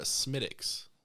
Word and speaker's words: Smithwick's: true and uh i i ordered a smittx like specifically i said it like that smithwicks and she was